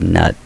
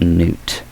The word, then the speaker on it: Nut: I say Geb, Nut, and Shoe, but I think not N-U-T is actually pronounced Newt. If I'm thinking correctly, I think I mispronounced that.